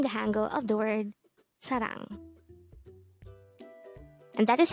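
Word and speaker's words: 사랑: the first syllable is the second syllable is pronounce it with me the word sarang is the korean noun for love again this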